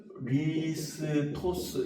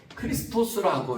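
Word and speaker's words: Χριστός: 어 읽기로는 크리스토스 이렇게 읽거든요. 크리스토스라고 읽는데요.이 말의 뜻은 비슷한 의미인데 뜻으로 이렇게 옮겨가게 됩니다.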